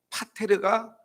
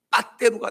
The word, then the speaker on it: 파테르: 이때 해설위원이 이 파테르란 말을 써야 되는데 그냥 일본식 발음으로 강하게 발음하니까 파테르가 빠떼루가 된 것입니다.